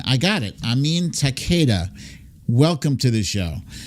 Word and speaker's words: Amin: Amin is how you pronounce it. Amin. I got it. Amin Takeda.